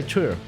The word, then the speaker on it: Tyr: I'm going to say Tyr because that is how I would pronounce it in German.